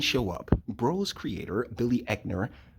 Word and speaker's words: Eichner: up bro's Creator Billy eckner at the Eichner I think that's how his name's pronounced blast a homophobic weirdos